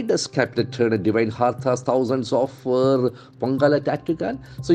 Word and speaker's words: hearth: You get that th sound. Can you feel that th sound? Hearts. hearth, The th is not there in our mother tongue. So as a Malayali, we struggle a lot for that. Hearth. So purposefully, we must get trained for that.